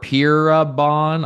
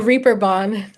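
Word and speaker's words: Reeperbahn: Uh, played all across North America, Europe, uh, Germany's, how do you pronounce that? Pier Bon. I'm probably butchering it. No, Reaper Bond. Reaper Bond there.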